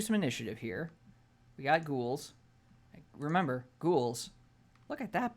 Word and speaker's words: ghoul: We got ghouls. Remember, ghouls. Look at that boy. He's just so hungry. Arm. And for those of you who don't know, according to Matthew Mercer, ghoul is pronounced Ghoul.